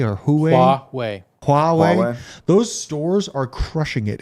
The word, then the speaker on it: Huawei: Is it Hawaii or Huawei? Huawei.